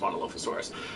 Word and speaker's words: Monolophosaurus: the new dinosaurs the monolofusaurus which i believe it must be pronounced as monolophosaurus i don't know it is pronounced monolophosaurus so monolophosaurus has um as